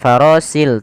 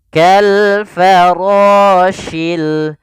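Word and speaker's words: كالفراش: dia Fa farosi ini hati-hati di sini huruf syin bukan huruf si Bukan farosil tapi farosi Kal farosyil syil mabus nah ini juga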